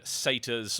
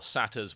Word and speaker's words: satyrs: Oh yes, Bashalaran, as I like to pronounce it, Bashilibi, was the home of demons and satyrs, or satyrs, whichever you prefer. Pronunciations both work dependent on region.